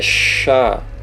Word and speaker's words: Shin: Outra letra aqui embaixo, Shin. No paleohebraico é Shá, a pronúncia. Ela vai ter som de SH.